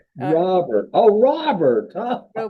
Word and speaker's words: Robert: It's Robert. But he likes He likes Roar. Robert. Oh, Robert. Huh? Robert. Yeah. Rober. That's the French pronunciation.